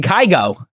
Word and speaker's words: Kygo: and I have the number one booth overlooking kygo is that he pronounce his name yeah he's incredible kygo if